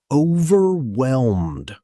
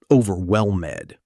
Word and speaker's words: overwhelmed: Notice the silent H. It's pronounced overwhelmed, not overwhelmed.